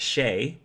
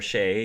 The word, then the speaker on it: XEI: I am here today joined by XEI, whom I have been told I can pronounce Shay, XEI or Shay, because I feel like that's easier to say than XEI.